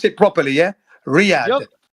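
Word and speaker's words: Riyadh: You have to pronounce it properly. Yeah. Riyad. Riyad.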